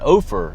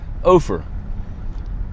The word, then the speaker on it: Ophir: I just spoke with one of the locals and asked him how to pronounce it. He said, "Ofer." It's from the Bible, apparently. He said, "Ofer."